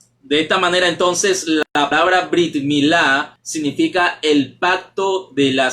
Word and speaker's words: brit milá: hebreo como brit milá es así como se pronuncia brit milá aunque también podría decir perito mila ya que